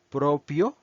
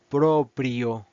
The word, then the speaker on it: proprio: les dije que no no se pronuncia propio como nosotros lo pronunciamos en español se pronuncia proprio prio y signific trabajo